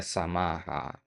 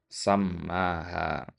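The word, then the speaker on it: سمّاها: Nah, ini tadi antum baca samaha bukan ya? Ini bacanya sammaha.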